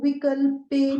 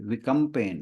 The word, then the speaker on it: विकम्पेन: ये जो पहला शब्द है दूसरे पार्ट का, सो विकल्पेन, हाँ, विकल्पेन नहीं है, ये विकम्पेन है।